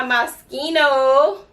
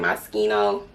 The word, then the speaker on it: Moschino: smell good okay so i have my moschino i think that's how you say it moschino and this smells so